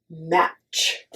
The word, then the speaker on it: match: Look at the word match. Match. So we don't say the T sound, and it's just match. It's like just okay. It's just the match. T is like a silent letter in there.